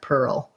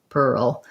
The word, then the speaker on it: pearl: that you'll notice is to go from the er to the o you end up with a little tiny kind of hidden schwa in there pearl pearl my video for world